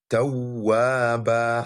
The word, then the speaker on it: توابا: You draw the ba'un a bit. You give it mud, and we call this mud maddul iwad. So the right pronunciation is tawaba.